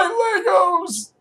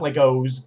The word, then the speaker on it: Lego: And play Legos! I know. It's Lego, not Legos. But most Americans say Legos and most Europeans say Lego.